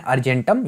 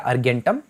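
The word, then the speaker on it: argentum: Latin में इसको बोलते हैं अर्जेंटम या अर्गेंटम, जैसे भी आप प्रोनाउंस करना चाहें।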